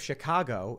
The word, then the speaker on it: Chicago: in the city like actually pronounce the word Chicago It's an without the ah. accent. It's a weird thing. Yeah. But outside of Chicago, everyone thinks they say Chicago.